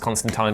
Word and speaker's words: Constantine: It's pronounced Constantine, don't tell me it's not, you idiots.